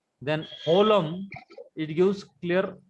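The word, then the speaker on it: holem: Only the difference is So it is olam or holum. O or ho. O. Olam. No, the pronunciation is holum. H-O-L-E-M. Holum. H is pronounced.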